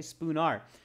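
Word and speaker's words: Spoonar: street okay what is his address spoo nar spelled with an a m verma okay spoon r they emphasize that right so spoon r-s-p-o-o-n-a-r spoon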